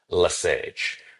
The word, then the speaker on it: Le Sage: And later by uh Okay, I Okay, now I'm realizing I don't think I pronounce the S because I think that's a French thing. I think it's a George Louise Lass.